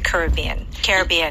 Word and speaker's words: Caribbean: Florida, going to the Caribbean. Yeah. Both of those. It can be pronounced Caribbean or Caribbean, right?